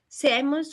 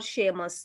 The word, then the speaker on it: Seamus: सेमस और शेमस, इनके दोनों प्रोनाउंसिएशंस आ रही हैं।